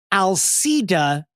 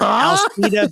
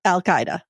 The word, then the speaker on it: Alcida: The first time I came across it, I was pronouncing it Al Qaeda. So I had it wrong. Not the same. I had it wrong. Not Al Qaeda. No.